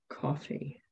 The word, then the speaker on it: Ko-fi: Well, actually, I think it's pronounced coffee.